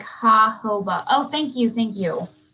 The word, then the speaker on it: jojoba: skin's natural sebum oh connor said it's pronounced like ha hoba oh thank you thank